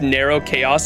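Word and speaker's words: Nrvnqsr Chaos: NRVNQSR, pronounced Narrow Chaos is his name?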